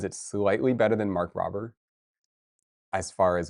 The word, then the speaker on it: Rober: Oh, Mark Robber.